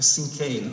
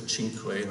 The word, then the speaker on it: cinquain: This is a cinquain, I'm told. That's how it's pronounced. I always thought it was a cinquain or possibly a cinquain.